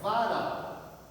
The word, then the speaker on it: varal: Então a sílaba tônica da palavra varal é o ral. Então ela não é paroxítona, tá? Ela é uma oxítona.